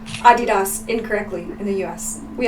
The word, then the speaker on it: Adidas: Also, just like in America we say Adidas, but actually in Germany it's the name of the guy who invented Adidas. It's Adidas, and that's how you're supposed to pronounce it.